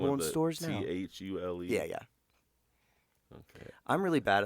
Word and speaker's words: Thule: Thule. Yeah. Okay. I'm really bad at Is that how it's pronounced?